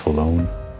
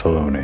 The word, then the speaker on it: Halone: I think I previously pronounced it as Halone, but it's Halone apparently.